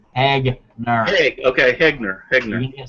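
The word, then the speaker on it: Hegner: It's spelled H-E-G. It's Hagner.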